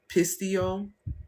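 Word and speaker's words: pisteuo: the actual word, okay, the Greek word for that according to Strongs is pistio. I may be saying it wrong, but it's p i s t eu and it's one of those O's with a mark on the top. Um, and it basically is meaning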